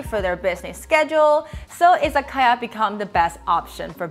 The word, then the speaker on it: Izakaya: and ya when you combine it together is izakaya and in chinese we pronounce these three characters which means exactly the